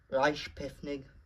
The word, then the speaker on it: Reichspost: The original Reichspost That's how you pronounce it.